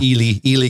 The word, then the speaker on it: Ely: That's Eli Callaway. Yeah. Ely Callaway. Right. And everybody says Eli, but it's Ely Callaway.